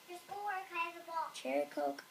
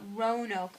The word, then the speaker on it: Roanoke: Cherokee Island? No, Roanoke Island.